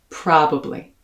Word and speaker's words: probably: very surprising ways so your first syllable is ah as in the word spa pra your second syllable uh very similar to what you hear in my pronunciation of the word stuff pra now stress the first syllable and slide through the rest of the word probably just going to